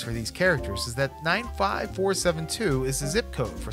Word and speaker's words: 95472: 3 four and 5 last name is 95472 with the accent on the four five's father is bad-tempered